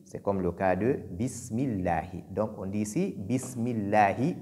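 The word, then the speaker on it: بسم الله: C'est comme le cas de Bismillahi. Donc on dit ici Bismillahi et non Bismillahi. Le Ha qui est venu au niveau de Allah doit être bien prononcé et ne pas le remplacer par Ya.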